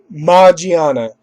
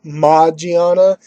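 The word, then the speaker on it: Magearna: a mythical Pokemon, and it is, of course, Magiana.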